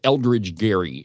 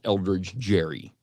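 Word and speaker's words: Elbridge Gerry: But how you pronounce it, it's Eldridge Gary. It's not Eldridge Jerry.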